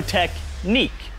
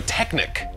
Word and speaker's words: Technic: world wow that was some seriously impressive lego technique it's pronounced lego technic yeah i know i was making a technique